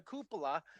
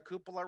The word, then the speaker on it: cupola: i saw that picture of you and the cupola and i thought that would be a great